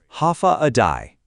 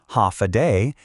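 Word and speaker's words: Håfa adai: Ha adai pronounced ha a day.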